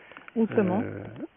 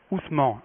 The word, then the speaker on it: Ousmane: Ousmane. Ousmane, voilà, merci pour la prononciation.